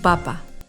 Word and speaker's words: papa: Federico está comiendo su papa. ¡Qué rico! El acento está aquí. Papa. La palabra papa no lleva tilde. Papa.